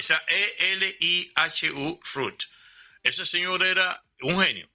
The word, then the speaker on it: Elihu Root: Búsquense el nombre, se escribe Elihu Root, o sea, como si fuese raíz en inglés, Elihu, o sea, Elihu, o sea, Lijo. o sea, Elihu Root.